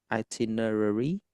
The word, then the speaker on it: itinerary: Ini bacanya IT nerary, itinerary. Itiner nerary atau dalam kata lain ini dinamakan travel plan.